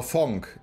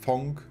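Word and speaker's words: Phonk: Oder P-H-O-N-K, ich glaube, das spricht man so aus. Funk, Punk.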